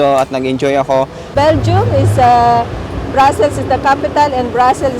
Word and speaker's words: Brussels: Brussels. Brussels. If you say Brussels, that is French. Brussels, that is English. And Brussels is Dutch or Netherlands.